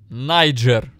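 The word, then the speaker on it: Niger: ] думают или пишут правильно говорить найджер я сейчас даже я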